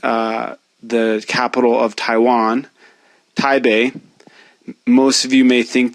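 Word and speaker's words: Taipei: the capital of Taiwan taibe most of you may think that it's actually taipe because it's spelled with a p but that P is actually representing a b sound in that instance in fact really the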